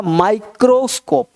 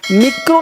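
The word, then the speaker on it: microscope: जैसे यहाँ पे माई है, एम है, तो इसको पढ़ना होगा माइक्रोस्कोप, माइक्रोस्कोप। मिक्रो नहीं पढ़ेंगे लोग, आई को ई पढ़ते हैं तो मिक्रो हो जाएगा, तो मिक्रो नहीं पढ़ना, क्या पढ़ना है माइक्रो, माइक्रोस्कोप, माइक्रोस्कोप।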